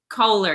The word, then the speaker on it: Koehler: it the other day is that how you say it kohler yes but australian accent so welcome thank you